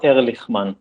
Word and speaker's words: Erlichman: i make sure yes my name is erlichmann there i like how you say it yes yeah in hebrew ch is a so yeah okay i'll